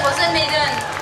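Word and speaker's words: Rozen Maiden: C'est comme ça qu'on prononce? C'est parfait, Rosen Maiden.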